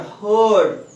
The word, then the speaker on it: heard: See here, heard. Even R will be silent here.